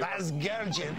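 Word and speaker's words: Vasgersian: Vazgergian? Is that it? Yeah, that's great. You got the ethnic pronunciation, everything. Vazgergian.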